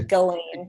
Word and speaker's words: Ghislaine: It's a hard G, Ghislaine. Ghislaine.